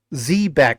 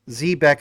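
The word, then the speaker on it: xebec: You see in the background, these ships, those ships are technically Zbeck ships. Zbeck is the right way to pronounce it, but of course the team calls it Zbec.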